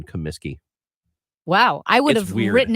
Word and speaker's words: Comiskey: no way no yeah I thought it was Kaminsky that's okay you live here you don't live there I'd say 30 of the population of Chicago doesn't know there's no n in Comiskey wow I would have